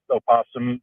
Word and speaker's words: opossum: So I used to work at a local nature center and uh we would say that yes opossum Virginia oposum is the correct way of saying it. However possum is still a correct way of saying it.